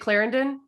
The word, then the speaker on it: Clarendon: Is it Clarendon? Is that how you say it? Yeah.